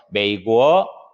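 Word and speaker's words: 美国: 메이고 이렇게 하면은 이게 미국이란 뜻이죠. 메이고가 아니에요.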